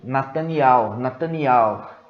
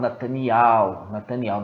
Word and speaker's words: Netanyahu: aldins falando, eles falam Netanyahu. Nós vamos colocar alguns vídeos aqui para vocês verem como que é pronunciado. Não é Netanyahu, não, é Netanyahu.